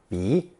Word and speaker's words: 鼻: The new combination is pronounced second tone 鼻 and usually adds an unstressed 字 to make it a noun.